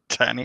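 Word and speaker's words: Tini: I think I think I'm pretty sure it's pronounced tiny but it's t-i-n-i but like the only other way you can see it would be like tinny but that doesn't make sense um and playing a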